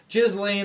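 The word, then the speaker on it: Ghislaine: how you say it it's the european it's jizz lane i've heard but it's galen jizz lane kind of awkward that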